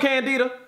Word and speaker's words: Candida: Let's see how you pronounce candida. Like, is it candida? Candida? Candida, that sounds like my neighbor down the hall in 3G. Hey, what's up, Candida? I see you, girl. Candida. It's Candida.